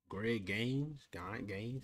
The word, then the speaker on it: Greg Gaines: Greg Gaines, that's how you say his name, DT, Rams had a worse season than we did.